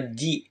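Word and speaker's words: 字: dia berdiri sendiri seperti ini dia akan dibaca Ji kayak gitu minasang yang artinya huruf atau karakter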